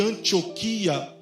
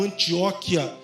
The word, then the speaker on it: Antioquia: apóstolos na cidade de antioquia ou antióquia as duas pronúncias estão corretas eles foram chamados de